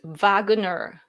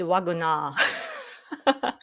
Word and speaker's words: Wagner: It's pronounced Wagner. Ah, I see. In Japanese it's Wagner. So that's why I keep saying Wagner. It's Wagner. Which way should I say? Wagner.